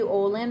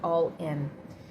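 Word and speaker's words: Ollin: Naui Olin, or Olin, otherwise pronounced as Olin or All-In.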